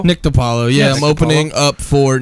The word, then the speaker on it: Di Paolo: spelled D Paolo but it's a I've been pronounced Apollo its to Paolo Nick DiPaolo yeah I'm opening up for Nick to Paolo